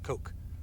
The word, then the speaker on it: Koch: So once you do that, then you want to follow the Koch method, K-O-C-H, Koch. I think that's pronounced Koch, like Heckler and Koch.